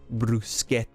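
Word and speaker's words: bruschetta: from br brusa brusa did I get the pronunciation right hold on hold on let me get the oh here we go brus brusa that was pretty bang on that's a really deep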